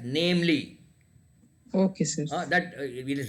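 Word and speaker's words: viz.: Yeah, that this you have to read it as namely.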